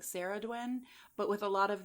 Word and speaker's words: Cerridwen: And uh I have heard people say like Sarah Dwin, but with a lot of these like um older Welsh names and and stuff.